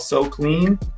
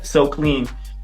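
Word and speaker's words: Soqlean: has a clothing line it's called so clean it's spelled it's kind of spell kind of weird it's s-o-q-l-e-a and l-e-a-n yeah so clean and um through his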